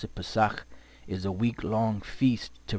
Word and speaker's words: Pesach: This is how you pronounce it. Pesach is a week-long feast to remember our deliverance from the Egyptian captivity.